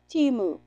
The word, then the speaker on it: Temu: and it is pronounced timu on their site it is I have it on my community tab the little clip from their site and it's t-e-e-m-o-o is how they want to pronounce it I've Heard lots of